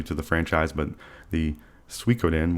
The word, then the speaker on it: Suikoden: big dummy out here, but I want to pronounce this game correctly, and this game is Suikoden.